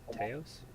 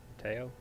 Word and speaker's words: Teo: Teos? Correct? Teo? Teos? Are you talking? Yeah, Yeah, okay. Which one? With an S or without the S? without the S. Okay, Teo.